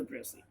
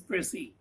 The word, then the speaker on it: précis: What is précis? Précis actually is a French word. Précis is a French word. It's actually pronounced like a press.